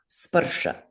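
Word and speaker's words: sparśa: And you see the sha is a sibilant that is a 4th Varga sibilant, and we say shra. Now it's 4th, it's 2nd. It's a palatal sibilant, shra, and all the vowels are short.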